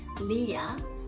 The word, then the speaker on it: Leah: I know many of you pronounce it as Lee, like an E-A long E sound, but it's not correct. It should be Leah, Leah.